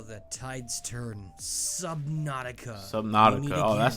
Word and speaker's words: Subnautica: Subnautica.